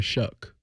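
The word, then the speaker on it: Shough: And the Saints appear to have is it Tyler Show who's there? Tyler Shuck. Shuck. Yeah, I forget. How do you say I'm not planning to learn rhymes with duck?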